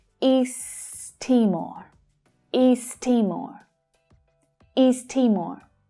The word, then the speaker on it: East Timor: But note that there is a linking between these two words that happens when English is spoken, because east ends in the same consonant sound that Timor starts with. We can push those words together and we only pronounce the t sound once.